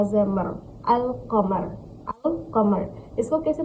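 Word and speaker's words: القمر: लाम ज़बर अल, क़ाफ ज़बर क़, मीम रा ज़मर, अल कमर, अल कमर। इसको कैसे प्रोनाउंस करेंगे?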